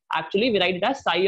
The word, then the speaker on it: psi: This is what is called as psi, P-S-I, P is silent, right?